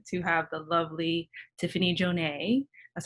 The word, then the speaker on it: Janay: i'm so excited to have the lovely tiffany jonay that's how i'm pronouncing it right does that sound i mean that's super fancy i would just say janae okay okay okay here on the program who